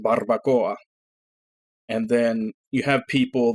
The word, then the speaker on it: barbacoa: Barbacoa, it's a kind of taco. Yeah, that's how it's spelled. But it's pronounced barbacoa.